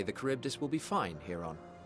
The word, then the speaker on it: Charybdis: I dare say the Charybdis will be fine here on. Cryptus, that's how you say it.